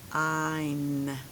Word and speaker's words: dine: But then I'm gonna add that silent e. Now what word is it? This becomes a i sound, right? Dine.